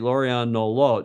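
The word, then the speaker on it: Lauriane Nolot: And one of the perennial stars now of late, Lorianne Nolot. Is that close to the pronunciation?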